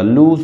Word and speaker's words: lose: Form होती है लूज, इसको लूज LOSE लूज है, लूज इसका मतलब होता है खोना, एंड लूज की फॉर्म्स होती हैं लूज, लोस्ट एंड लोस्ट, ठीक है, ये लॉस नहीं है, लूज है, लूज लोस्ट लोस्ट, लूज।